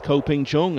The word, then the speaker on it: Ko Ping Chung: Well, no question about the pronunciation of this name. At least not as far as we know. It's Ko Ping Chung, and he's about to go four clear for the first time in the match.